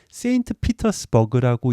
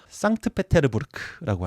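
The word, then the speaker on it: Санкт-Петербург: 할까요 하나 둘 셋 만약에이 발음을 세인트피터스 버그라고 읽으셨으면 어 영어 좀 하시는 겁니다 근데 그거는 아니고요 상트페테르부르크고 합니다 어미는 상트 배자를 부르고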